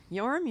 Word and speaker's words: Jorm: Yorm, your name got cooler. It is normally spelled Jorm, but because in the English. Old Norse, the J was always pronounced as Y.